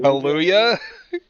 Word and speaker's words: Kaluuya: Daniel, I'm gonna mispronounce this. Oh, Kaluuya? Kaluuya.